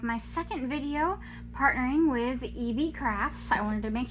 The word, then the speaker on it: ieebee: today I have my second video partnering with EV crafts I wanted to make sure I said